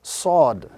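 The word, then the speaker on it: ص: This letter is pronounced when the tip of the tongue touches the edges of the 2 lower front teeth, and then very slightly touching the edges of the 2 upper front teeth.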